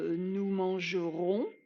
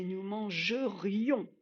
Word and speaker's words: nous mangerions: n'est pas je mangeais ce n'est pas nous mangerons ni nous mangions c'est nous mangerions on a le r le i le haut si vous prononcez pas de façon assez articulé vous allez soit dire nous mangerons et nous mangerons c'est un futur ou alors nous mangeons nous mangeons c'est un imparfait ça ne correspond pas